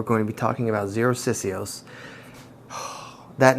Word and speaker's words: Xerosicyos: to be talking about zeroc cios that name took me a little bit to figure out how to pronounce for a minute I thought it was kind of Spanish sounding but actually it's Greek um OS is uh